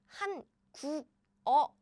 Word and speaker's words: 한국어: So as I just mentioned, if you read this word syllable by syllable, it will be 한국어. But now, no, Korean people don't say that way. Since there's 이응 here, 짠, they are combined as in 한국어.